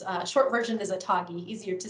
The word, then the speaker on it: ATAGI: on immunization so long long name but it's pronounced or it's uh short version is a toggy easier to say they recommend waiting to get